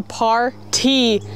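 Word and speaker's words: PARTEE: You guys, this is called the par T shirt. Yeah. P-A-R-T-E-E is how you spell it. Well, yeah. Instead of par T, like P-A-R-T-Y.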